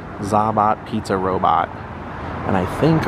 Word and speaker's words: ZaBOT: So the official pronunciation is the ZaBOT, ZaBOT pizza robot.